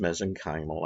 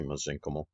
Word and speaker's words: mesenchymal: cells or mesenchymal cells sometimes you hear pronounced mesenchymal i say mesenchymal um so the stem